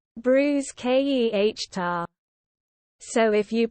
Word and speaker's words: bruschetta: Bruschetta when pronouncing bruschetta the CH is a hard k sound bruise k e h tar so if you pronounce it Bruce c h e h tar as I occasionally do